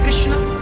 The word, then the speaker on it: कृष्ण: हरे हरे राधे राधे शुद्ध उच्चारण इसका क्या है हरे राम हरे राम राम राम हरे हरे हरे कृष्ण हरे कृष्ण कृष्ण कृष्ण हरे हरे बात हुई बालको का